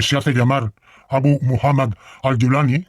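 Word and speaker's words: al-Julani: hace Llamar abu muhammad al gulani o al gulani según la pronunciación el árabe tiene varias pronunciaciones dialectales Parece que la pronunciación Siria es al julani Aunque la más estándar es al dulani este señor que fue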